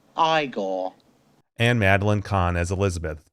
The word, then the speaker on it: Igor: marty feldman as igor now it's pronounced igor and madeline khan as